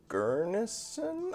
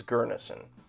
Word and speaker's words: Gurnisson: is uh go trek gurnesson i keep mispronouncing it but i think it's gurneson go track gurnason you can't really see